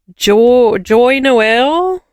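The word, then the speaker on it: Joyeux Noël: It's according to the Google it's pronounced schwaha in French with a soft J sound like the S in measure.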